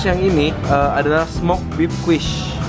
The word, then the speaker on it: quiche: Terus yang ini adalah smoked beef quiche. Quiche bacanya.